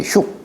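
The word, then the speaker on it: 畜: 도생지하고 덕, 여기 이 축자를 흉이라고도 읽어요. 우리 가축을 얘기할 때는 축자로 읽고, 뭘 기르다, 덕을 기른다, 뭘 한다 할 때는 흉이라고 읽어요. 흉.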